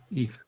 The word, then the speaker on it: Yves: Eve. Yeah, it's pronounced Eve, but I'm a guy.